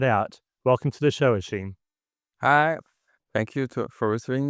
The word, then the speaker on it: Hichem: It's even my name I don't pron I pronounce my name in a French way.